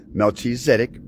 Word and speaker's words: Melchizedek: Melchizedek because it rhymes with medic, like the arithmetic of God, penned by Don Kistler.